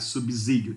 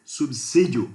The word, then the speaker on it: subsídio: A letra S não pode ter som de Z quando estiver entre uma consoante e uma vogal. Regra que você aprendeu lá, né? No jardim da infância. Então agora a gente não pode pronunciar subsídio, tem que ser subsídio, porque é um S que está lá.